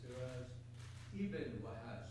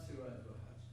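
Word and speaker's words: Siraj Ibn Wahhaj: Siraj Ibn Wahaj, it should be, and not Siraj Wahaj.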